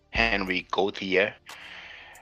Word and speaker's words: Henri Gautier: Henri Gautier, in English we pronounce it Henry Gautier. Henry Louis Marie Alexander Gautier, in French Henri Louis Marie Alexandre Gautier, was a French Egyptologist and geographer.